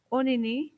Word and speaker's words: Onini: Then we have Onini, he is the great python.